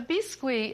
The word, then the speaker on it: biscuit: A lot of people call it biscuit, but biscuit is the way the French pronounce it, and roulade is a roll.